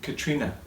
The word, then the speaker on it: Caitriona: Katrina. Like, think of probably like Hurricane Katrina.